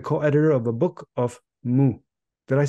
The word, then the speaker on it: Mu: And she's the co-editor of a book of Mu. Did I say this right? You did. I that did. Was well pronounced.